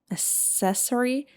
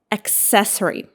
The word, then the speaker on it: accessory: How do you pronounce it? Accessory. No. Accessory. accessory and it is an extra item that adds style or function.